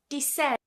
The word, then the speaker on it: descend: But we're just going to say for the sake of this video that the C is silent. And what we tend to do is just pronounce it as a s sound.